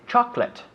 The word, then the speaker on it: chocolate: 1980s in the 1980s now we say chocolate chocolate yeah two syllables yes chocolate chocolate no